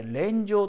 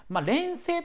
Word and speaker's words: 連声: 恋情というね連なる声と書いて恋情と呼びます連星と呼ぶ場合もあるようなんですけど恋情と読むほうが通常定価一般的だと思いますので恋情と